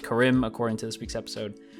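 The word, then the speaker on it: Karim: pronunciation last week I think I called him Kareem apparently it's pronounced chorim according to this week's episode I do want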